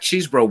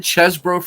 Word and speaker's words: Chesbro: Wait, I hope Jack Cheesebro, when he pitches, I hope he does well because Cheesebro's a 19th century pitcher as well.